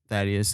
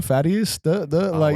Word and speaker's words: Thaddeus: my name in the I'll be like Thaddeus and they'll be like huh fatties I mean th just got to give them the low first two letters the air pronunciation to get them proper do people say cough